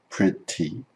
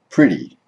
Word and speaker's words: pretty: The T sound will turn into a D sound in some cases. For example, where the T comes between two vowel or diphthong sounds, like for example pretty, or after an R and before a vowel or diphthong sound, like for example in party. So the word is not pronounced pretty, but it changes to pretty.